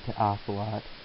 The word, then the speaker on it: TehOcelot: I asked a bunch of people in the IRC how they thought I should pronounce him. We agreed on TehOcelot, and he's going to